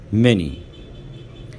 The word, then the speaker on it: many: any many هنقولهم مرة كمان.